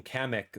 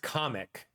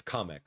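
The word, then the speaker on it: Kamek: So apparently my entire life I've been calling kamik the wrong name. It's pronounced comic uh with like a like a like a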